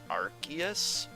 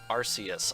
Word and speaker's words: Arceus: Sun and Moon, but the Japanese katakana indicates that it would be pronounced Arceus, although I can understand